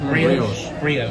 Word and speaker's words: brioche: Brioche. Brioche, that's how you say it.